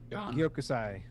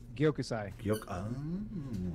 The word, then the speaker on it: Gyokusai: One of you guys pronounce it for me. Gyokusai. Gyokusai? Gyokusai.